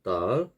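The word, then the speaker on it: دال: 첫 번째 달 같은 경우에는 우리나라 디귿, 영어의 D 발음과 같습니다.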